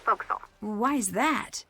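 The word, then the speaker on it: forecastle: ship but it's pronounced folksall why is that try pronouncing it like an English sailor with no formal education faux Castle overtime at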